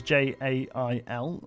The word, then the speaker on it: gaol: this week their spelling on this jail is Jay ail which is how I've always felt it I'd